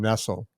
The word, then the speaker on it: Nestle: Actually, she pronounces her name Nestle, but it's spelled exactly like Nestle.